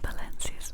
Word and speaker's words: Valencia: moon, to be in Valencia's moon, Valencia, Valencia. I'm from Spain, my darling, so I make you pronounce the th.